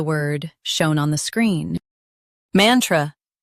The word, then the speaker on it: mantra: Both US and UK have the same pronunciation of this word. Mantra. Now read the syllables shown on the screen naturally. Man. Tr. Mantra. Stress man and keep tr soft.